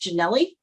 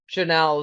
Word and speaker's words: Janelle: And I'm just curious, and I believe it's pronounced Janelli, if I'm not mistaken.